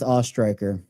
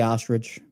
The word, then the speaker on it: Ostriker: And my last name is pronounced Ostriker. Some people just give up and stay ostrich, but it is Ostriker. Like you're an aw, then you throw a strike, like in bowling, and then ER.